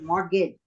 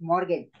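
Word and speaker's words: mortgage: इट्स नॉट मॉर्गेज, इट्स मॉर्गेज। C silent रखा है इसमें, ठीक है।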